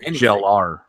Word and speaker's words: Gellar: Like we're not gonna watch the show if Sarah Michelle Gellar came back. It's pronounced Gellar.